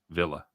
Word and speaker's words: Villa: max says we should be staying aston villa villa the english pronunciation i like to say via the force of habit you know spanish one